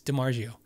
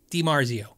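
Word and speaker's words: DiMarzio: um larry di marzio everybody was like you're saying it wrong he doesn't seem to mind so just probably might if there's an accent i think i have one it's dimargio di marzio larry was telling me that when they were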